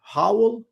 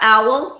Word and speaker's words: owl: And I look at the telephone pole and I saw an howl. Is that how you pronounce it? What A is it? howl, a big bird with a Oh yeah, owl.